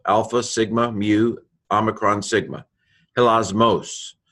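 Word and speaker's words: ἱλασμός: Hilasmos. Notice how I tend to, in my pronunciation, stress the accent that has the accent on it. That's about all I do with accents. Hilasmos.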